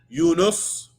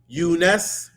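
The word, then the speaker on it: Yunus: so because of this eunice can be pronounced properly as unus unes eunis or eunis that noon there you can place a vettec kessler dumba or on it it's all correcting the average language yusuf is similar you can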